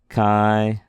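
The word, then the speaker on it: χ: like words like phone Kai is pronounced like a CH in Christmas like a little bit of a guttural it's like clear your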